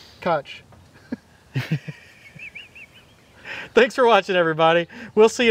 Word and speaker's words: Koch: Dig Drive DIY, and Kof is K-O-C-H. Don't worry your grammar teacher trying to teach you how to spell that. Just give up on that. It's the German phonetic pronunciation of it, I think. Kutch.